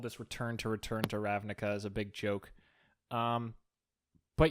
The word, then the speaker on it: Ravnica: Ravnica.